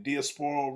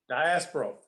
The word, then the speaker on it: Diasporal: In 2003, he co-founded, and tell me if I'm pronouncing this correctly, Diasporal Rhythms? No, Diasporal. Diasporal Rhythms, a not-for-profit 501c3